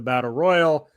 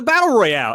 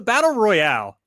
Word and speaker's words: battle royale: royal uh it's the battle royale everybody called it a battle royal on this show but it's the battle royale and i just want him to get it again it should be royale but everybody's wwe poisoned